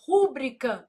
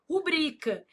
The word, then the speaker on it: rubrica: A pessoa vai lá e fala assim: "Rúbrica não, não existe, meu filho. Ah, mas eu não posso falar se eu quiser. Se você quiser, você pode falar, mas tá errado. O certo é o quê? Rubrica.